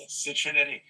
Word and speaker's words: Citriniti: Citriniti. I always say it rhymes with nitty gritty or itty bitty.